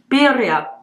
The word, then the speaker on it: birria: Because I know you're supposed to roll the R. Birria. Birria.